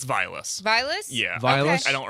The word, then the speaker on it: Vilas: It's Vilas.